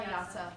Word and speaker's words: Jasa: Isabel Yasa. All right. Nuts for Nutcracker by Isabel Yasa.